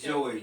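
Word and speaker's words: Joi: Dr Joey yeah y it's SP J oi she pronounces it Joy but I want to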